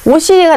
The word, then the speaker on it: 옷이: 옷이가 나왔어요. 옷 다음에 이 조사죠. 조사인데 모음으로 시작하는 형식 형태소. 그럴 경우에는 제 원래 음가대로 원래 시옷의 소리 그대로 뒤로 보내준다는 얘기입니다.